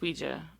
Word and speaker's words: Ouija: Ouija yeah Ouija Ouija it's Ouija that's the real pronunciation okay anyway I watched